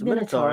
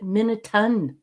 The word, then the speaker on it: Minotaur: It's Minotaur, isn't it? Yeah. And what's worse is the old hag. They call it a Minotaur? No, they pronounce it Minotun.